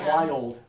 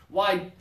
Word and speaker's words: wild: it for me try wild really good job two syllables okay the problem happens when students try to say this as one syllable wide and they say oh